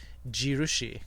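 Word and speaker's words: 印: say Arrow this is normally um in for onomi but in this case it's jirushi Yushi is a um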